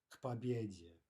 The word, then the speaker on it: к победе: Okay, practice, again, the pronunciation, к победе, not к победе, right? We really want no pause whatsoever between those two consonants, к победе. Pretend as if it were written as a single word and pronounce it accordingly.